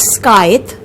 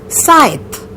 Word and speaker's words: scythe: It is not scythe, it is scythe. Again a pronunciation with a twist.